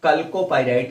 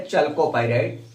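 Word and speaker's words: chalcopyrite: और कल्कोपाइराइट या चल्कोपाइराइट, कापर का अयस्क है, तांबे का अयस्क है, चल्कोपाइराइट भी बोलते हैं लोग, कल्कोपाइराइट भी बोल देते हैं, कल्को CH स्पेलिंग है।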